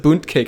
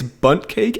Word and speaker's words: bundt cake: saying that in also I love how we pronounced it boot cake apparently it's bundt cake and it did sound like T said Tom